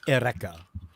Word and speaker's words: Eureka: Watch Erica 7. It's good. Yeah. Erica 7. Remember, it's spelled Eureka, but it's pronounced Erica.